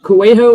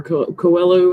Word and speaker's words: Coelho: Anyway, oh my Paulo gosh, Coelho or Coelho, however, he's Portuguese, Brazilian actually. Brazilian, I think. Coelho, I think is how you pronounce it.